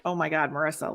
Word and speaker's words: Marisa: time they'll be like lisa oh hi lisa how are you first of all my name's not lisa okay my first name is marissa some people say oh